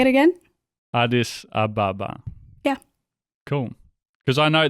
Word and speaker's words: Addis Ababa: So how do you pronounce it? Addis Ababa.